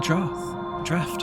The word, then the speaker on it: draft: Curtains flap in the wind, and yet you don't feel a draft. I always mispronounce that fucking word because it's spelled draught and it's pronounced draft, and I'm just like...